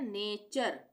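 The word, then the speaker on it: nature: इसी तरह से एन ए टी यू आर ई। एन ए टी यू आर ई तो यहां पर हम इसको क्या पढ़ रहे हैं? नेचर नेचर यू आर ई एक साथ आ रहा है। नेचर उसी तरह से कल्चर यू आर ई एक साथ आ रहा है यहां पे कल्चर। कल्चर वैसे हम अगर अलग से देखें तो टी यू आर ई जहां पे भी आएगा उसको हम चर पढ़ेंगे।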